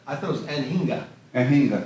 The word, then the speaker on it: Anhinga: How do you pronounce that? I thought it was Anhinga. Anhinga, right.